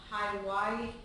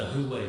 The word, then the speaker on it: Huawei: the contact Los on the Hawaii phone, or I'm going to pronounce that wrong. It's the Huawei phone.